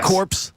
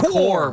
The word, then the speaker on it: corps: was Dave in Milwaukee did you say corpse come on now come on I'm reading the text oh did he write it as cor how do he spell it c o r p s well then that's core bro oh is it it's like yes oh okay so it's like Colonel man I'm telling you